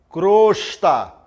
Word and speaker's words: crosta: Olha só exemplo sair pronúncia correta timbre fechado e e o né Então você fala omelete alcova crosta são palavras são times corretos né então você omelete alcova crosta não é o omelete ao curva e crosta muito bem pronúncia errada de time aberto é e o omelete alcova e crosta muito bem então você